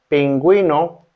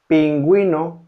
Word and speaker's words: pingüino: quién, quién means who, is not pronounced the letter U, except in some words that contains diathesis, such as pingüino, pingüino, pingüino.